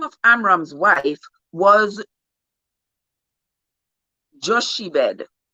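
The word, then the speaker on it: Jochebed: of amram's wife was joshi bed joshy bed that's how i'm pronouncing it j-o-c-h-e-b-e-d joke the daughter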